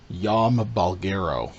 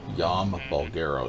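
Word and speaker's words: Jaume Balagueró: basically lifted to him his name it's pronounced yama bulgaro yama bulgaro so he's been involved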